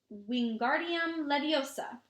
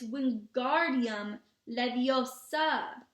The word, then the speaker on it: Wingardium Leviosa: much any more luck Wingardium Leviosa he shouted waving his arm long arms like a window you're saying it wrong Harry Hermione snap its Wingardium Leviosa make the guard nice and long you do it then